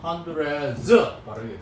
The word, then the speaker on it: hundreds: 이럴 때 D는 음가가 탈락이 돼서 발음하면 안 됩니다. hundreds.